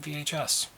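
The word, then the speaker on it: Viy: that's the first one was called V it's pronounced V but it's spelled v iy it's a heart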